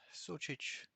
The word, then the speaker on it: Sucic: my name is s-u-c-i-c it's pronounced such you don't have to